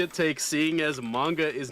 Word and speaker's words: manga: time as he did in the manga say manga yeah oh i'm sorry i don't pronounce it with a o cause that's not how it's felt it's pronounced manga no if you pronounce then why is it